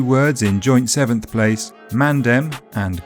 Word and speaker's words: mandem: Their spellings with D reflect their pronunciations, mandem and galdem.